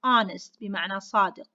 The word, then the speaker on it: honest: going to tell you in english we have few words that i am going to use with it and like the words honor shut up shut up okay honor i have the word hour be i have the word honest so why i'm going to use before it and why and the silence and i'm going to